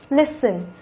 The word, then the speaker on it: listen: Mặc dù nó là động từ, có hai âm tiết, nhưng trọng âm của nó lại rơi vào âm thứ nhất. Listen.